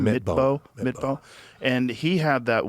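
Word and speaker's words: Midtbø: Midbow.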